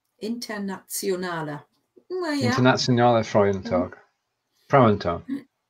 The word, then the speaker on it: Internationaler: Yeah, and then the temptation is to pronounce that Internationale, but it doesn't work that way. No, that's again, the German one. Internationale Frauentag. It's like there's a Z after the T. Internationale.